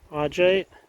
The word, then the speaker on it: augite: So I want to call it Augite. Like, that seems like what wants to roll off my tongue, but it's pronounced Augite, I guess.